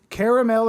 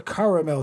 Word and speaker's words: caramel: it's caramel or caramel turtle, depending on how you say it.